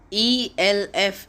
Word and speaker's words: elf: e l f is 11 in german and its pronunciation is elf elves z-w-o-l-f is 12 in